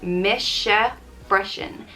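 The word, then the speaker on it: Mise freisin: to me also and it's pronounced mischa freshen mr freshen i'd use this one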